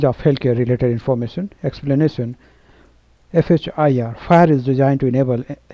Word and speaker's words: FHIR: FHIR, pronounced as FHIR, is designed to A.